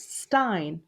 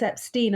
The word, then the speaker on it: Epstein: the way it's spelt there was a presumption that it was stein as in steinway piano and so i've actually always had to say whenever i've done television debates it's epstein and actually one television